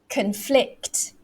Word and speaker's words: conflict: it's a noun however when it's a verb look at this one what happens the second syllable so it's like this conflict conflict is it different